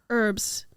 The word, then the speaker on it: herbs: green thumb at all why are herbs why is there a silent h in front of it but if somebody's name